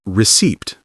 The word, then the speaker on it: receipt: Yes, it looks like receipt, but we say receipt. The P is silent.